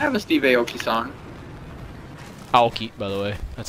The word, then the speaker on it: Aoki: Aoki, by the way. That's how you pronounce it.